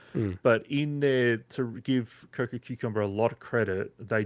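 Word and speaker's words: Cococucumber: It's Coco Cucumber.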